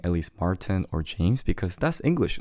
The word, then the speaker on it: Martin: So it's not Martin, we just say Martin. We don't pronounce the R in Korean. We say Martin. So instead of Martin, it's Martin.